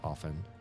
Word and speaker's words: often: It took me literally until like maybe this year or last year to um realize that you don't pronounce the T in that word often.